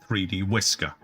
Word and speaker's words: 3dwi.scr: The full title is 3D Workers Island, but most of us prefer to use its file name instead, pronounced 3D Whisker.